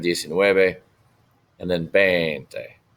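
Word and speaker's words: veinte: Not Ben, not Bente. 20. 20. It is with a V, but it's pronounced like a B.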